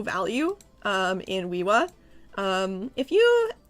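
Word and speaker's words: Uiua: Um, it's pronounced Wiiwa. Woo. Wiiwa.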